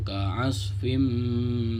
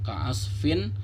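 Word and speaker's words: كعصف: Yang tadinya dibaca ka'asfin menjadi ka'asfim, masuk.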